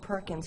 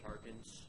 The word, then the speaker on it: Parkins: so thank you parkins i hope it wasn't perkins and i mispronounced it all again so uh my name is parkins i'm part of the